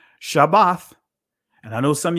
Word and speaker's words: Shabbath: Anyway, uh but Shabbath, right? That's why I put the uh the hyphen or or the dash in between, right? just so that way you understand the proper pronunci pronunciation of it.